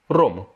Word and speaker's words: rhum: spécifique au ch ensuite le rhum ça se dit rome auront tout simplement et